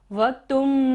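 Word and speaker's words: वक्तुं: वक्तुम गुणान त के ऊपर बिंदु है और बाद में क्या है, ग, तो इस यहाँ पर हम बिंदु को क्या बोलेंगे, म। वक्तुम गुणान, वक्तुम गुणान गुण, वक्तुम गुणान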